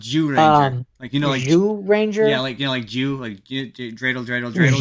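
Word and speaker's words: Zyuranger: But I did watch both the English and Japanese version of the Mighty Morphin, the ZU Ranger. Yeah. ZU Ranger? It's pronounced Jew Ranger.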